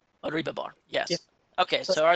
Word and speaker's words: Oribhabor: And how do you pronounce your last name? Oribhabor. Oribhabor, yes.